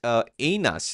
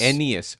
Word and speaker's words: Aeneas: Meet Aenas. Is that right pronunciation, Tony? Aenas? I don't speak Latin. I think it's Aeneas. Aeneas.